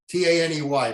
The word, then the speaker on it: Taney: Roger Brooke Taney, T-A-N-E-Y, pronounced Taney.